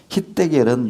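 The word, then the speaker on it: חדקל: hitdekel, 유브라데는 지금도 흐르는데 hitdekel은 유대식 발음이고 영어식 발음은 티그리스 유프라테스입니다.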